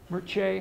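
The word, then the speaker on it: Mircea: I'm saying that right some Romanian wrote me the other day and tried to teach me how to say it Mirchi I think that's right le ah de talked about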